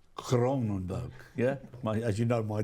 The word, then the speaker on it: Kroonenburg: got that right Mike in Dutch it's a cronenburg cronenburg yeah as you know my Dutch isn't isn't